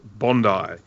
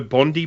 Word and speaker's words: Bondi: Bruce tell her how it's pronounced it is pronounced Bondi if you ever happen to be in this